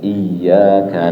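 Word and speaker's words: إياك: Kasih tasdid dia, iyyaka na'budu wa iya. Kasih tasdid.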